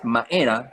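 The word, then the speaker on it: mba'era: cambia la palabra y en vez de decir mbae se dice mae, se pronuncia todo de forma nasal. Entonces, maera es algo, pero que sirve para algo.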